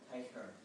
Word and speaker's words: Teicher: Teicher. Teicher. Okay, so it's almost like for me, so it's like T-E-I-K-E-R. Sorry. It's a German pronunciation.